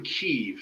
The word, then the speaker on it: Kyiv: Oh yeah, he's not from Kiev. He's from Kyiv.